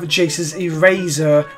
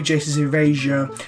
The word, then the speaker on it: Jace's Erasure: Now, Seth has a fun habit of mispronouncing cards. Here we have Jace's Eraser, which should be Jace's Erasure, which Jace used to